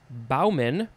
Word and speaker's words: bowman: next is the second form but it is pronounced baumen spelled the same way thank you english for